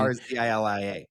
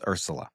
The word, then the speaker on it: Urzila: But I thought it was Urzila. You thought wrong, evidently.